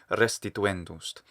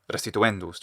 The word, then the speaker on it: restituendus: saw previously super good also listen to the syllable length in the first syllable of restituen the way this actor says it it's really good oh no that's what italians do so well when they have closed syllables they give them extra length so it's restituendust instead of residuendust or something actor does it sounds